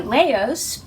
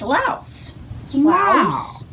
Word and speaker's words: Laos: on the old internet i wanted to say leos i've been saying it wrong forever but it's louse wow yes but you